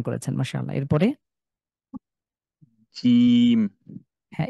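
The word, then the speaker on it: جيم: এরপরে জিম। হ্যাঁ, একটু শক্ত করে, আরেকটু শক্ত। জিম।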